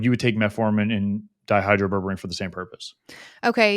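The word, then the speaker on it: dihydroberberine: with how do you say it die it's dihydro berberine yeah just super appropriate yeah okay so no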